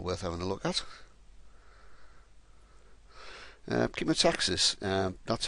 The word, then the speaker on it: chemotaxis: Chemotaxis, that's how it's pronounced. It's not pronounced Chemotaxis.